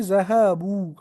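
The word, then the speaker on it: ذهبوا: तब हम कहते हैं ज़हबू, वाव ऐड करते हैं और बा पर दमा देते हैं, और लास्ट पर एक अलिफ ऐड करते हैं जो प्रोनाउंसिएशन में नहीं होता है, खाली ऐड किया जाता है।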